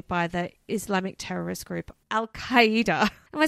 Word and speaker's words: Al-Qaeda: Al-Qaeda. I think that's how it's said. Al-Qaeda, like hyena.